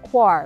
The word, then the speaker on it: coir: brick of coconut coir c-o-i-r pronounced quar like you are and um that is